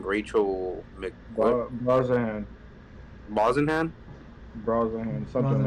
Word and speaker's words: Brosnahan: How do you pronounce her last name? Rachel Mc what? Brosnahan, Brosnahan. something like that. All right, Brosnahan for sure.